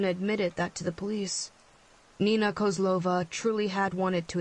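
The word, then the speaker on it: Neenah: a little town called Nina yep it's pronounced exactly the way you think it is the greatest tragedies of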